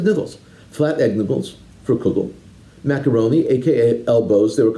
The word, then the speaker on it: kugel: of pasta not looks in lithuanian speakers of yiddish by the way pronounced it kegel not kugel this disputed pronunciation is